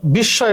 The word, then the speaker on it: বিস্ময়: বিস্ময় শব্দের উচ্চারণ হচ্ছে বিস্ময়। আমরা জানি যে মফলা উঠে গেলে চন্দ্রবিন্দু হয়, বিস্ময়ের উচ্চারণ এভাবে।